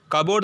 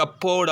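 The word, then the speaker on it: cupboard: ஸோ கபோர்டில் பாருங்கள் B sound silent, கபோர்டு தான் சொல்லுவோம், கப்போர்டு அப்படின்னு சொல்ல மாட்டோம்.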